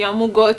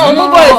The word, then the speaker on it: Omugo: She came into the house with the intention of, okay, the Amugo thing, how is it pronounced? No, Omugo is early stage.